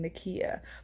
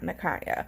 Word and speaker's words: Nakia: I want to apologize if I'm mispronouncing Nakia, but I think it's Nakia and not Nakaya.